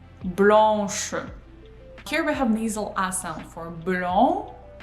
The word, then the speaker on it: blanche: First, we complete pronouncing nasal A sound, and only then we pronounce sh. Blanche, not blanche, blanche. No, we do blanc, pronounce, we go to sh.